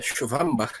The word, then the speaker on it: Schwambach: Mas saiba que essa família, Schwambach, né, a pronúncia alemã, ela é relativamente grande lá na Alemanha, aqui no Brasil também.